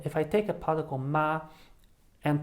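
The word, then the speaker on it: 吗: to curse but then when i have ma without any tone at all then it is a question particle it turns a sentence or a statement into a question so when i take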